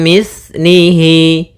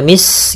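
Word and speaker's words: مِثْلِهِ: lahum mim mim mim mitlihi kemudian hati-hati dalam pelafalan tsa Jangan dibaca Mis gitu ya tapi di situ ta m mim mitnii Kemudian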